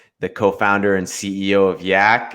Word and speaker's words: Yac: who don't know what yak is yet it rhymes with slack um but and there's